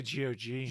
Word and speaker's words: GOG: I say GOG. GOG. Okay. Well, then last month, GOG announced a preservation program offering ongoing tech support and compatibility for classic games. If you didn't know, this GOG is a website where you can get games.